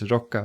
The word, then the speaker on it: Rikka: its 3776 limited edition, except that the pronunciation for Rikka was Rokka, right? But it's the same kanji, right?